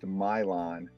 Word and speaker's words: Milan: the little village of it's spelled Milan but it's pronounced Mylon you know the Americanization of all those Eastern names I mean the European names so um so it's uh the Mylon branch of the Iowa